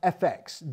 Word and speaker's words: EFEX: special online folk platform EFEX Digital, pronounced FX Digital, which includes great online content and ticket discounts for folk music concerts and events when they return, which they will.